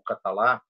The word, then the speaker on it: Catala: Havia o projeto Catala, ou Catalá, como alguns preferem pronunciar, e o projeto Terre, de François Terre.